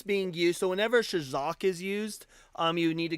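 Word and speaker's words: חזק: The R word in Hebrew is shazak, which is spelled CHAZAQ. And that word is used real quick.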